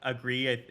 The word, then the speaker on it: Agri: you for being here i uh agree is i think is the correct pronunciation there like you said um so i wanted